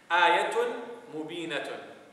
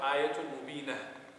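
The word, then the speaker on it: آيَةٌ مُبِينَةٌ: Ayatun mubinatun. Ayatun mubinatun. Or if you stop there, ayatun mubina.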